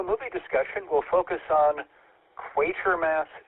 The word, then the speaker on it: Quatermass: Tonight's Afterglow movie discussion will focus on Quaker Mass 2 from 1957. Yeah, that's how it's pronounced.